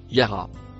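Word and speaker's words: يرى: Le dernier mot en bleu clair se prononce yara.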